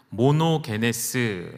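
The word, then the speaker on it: μονογενής: 되었냐 하면 헬라어를 한 번 뛰어 주실 게요 모노 베 네 스 라고 해요 뭐 녹 ns 라고 읽으시면 됩니다 이게 우리말로는 독생자 로 번역이 됬습니다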